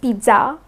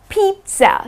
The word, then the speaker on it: pizza: Now many people pronounce it as pizza or they pronounce it as pizza. Okay, so these are all incorrect pronunciations. The correct way to pronounce it is pizza.